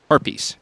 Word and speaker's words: harpies: first round of mid haries will come up harpies is how you say that that haries bastet rotated